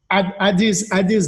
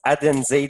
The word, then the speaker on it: Adenze: Adis Duncan. Merci Pascal. Son nom, ça se prononce Adenze Duncan. Adenze, OK. Bon, ben, tu vois, je le prononçais très, très mal.